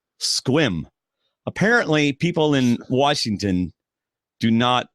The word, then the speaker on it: Sequim: lot like Requiem yeah SEC wium or Requiem the answer is Sequim apparently people in Washington